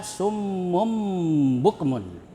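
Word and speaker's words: صُمٌّ بُكْمٌ: Summum tanwin ya. Tanwin ya tanwin berbaris dommah. Dua dommah ya. Summum bertemu dengan ba ya. Ini bacaannya disebut hukum bacaannya disebut iqlab ya.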